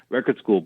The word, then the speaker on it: Record Skool: It's just Record Skool, but it's school with a K.